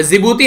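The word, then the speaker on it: Djibouti: T silence रहता है, जैसे यहां पर जिबूती है यहां पर तो डी साइलेंट है।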